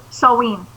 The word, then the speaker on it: Samhain: Pronounce that again. There's Samhain.